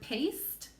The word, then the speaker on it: paste: So go ahead and say the word paste.